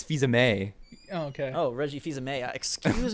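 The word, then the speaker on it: Fils-Aimé: they correct you that you said Reggie's name wrong yeah you said Fe is it Fe I thought it no but he said FEA me it's Fe May okay oh Reggie feha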